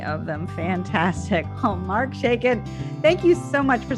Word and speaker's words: Shaiken: say your last name shaken like shaken nuts dirt seriously that's great